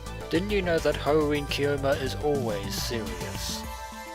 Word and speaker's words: Hououin Kyouma: And hey, you actually pronounced Hououin Kyouma properly.